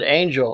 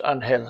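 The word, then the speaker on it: Ángel: introduced himself anhel oh he said angel or anhel so anhel anhel you know anhel Spanish an anhel in Spanish it's anhel okay like Angel anyway so he introduced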